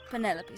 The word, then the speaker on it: Penelope: never can be bothered with all four syllables of it Penelope sounds a little ostentatious